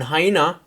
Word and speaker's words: hyena: and especially australian english the a sound at the end is an er but in hyena it's a straight up a your next word is